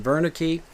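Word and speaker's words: Wernicke: we call this region warik area this region is named after the German physician uh Waki or perhaps you prefer the pronunciation Veri who described a series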